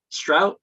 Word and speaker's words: Strauch: Is it pronounced Mr. Strauch? Very good. It's a K sound on the end, but yep, I'll answer to anything.